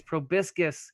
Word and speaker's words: proboscis: Proboscis?